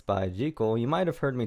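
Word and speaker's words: ZI:KILL: This song is called Rocket, and it's by Jekyll. You might have heard me talk of them before. I like to call them Z.I. Kill because that is just such a cool name for a band.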